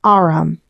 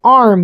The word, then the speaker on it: arm: He pronounced it arum. An arm, you goose.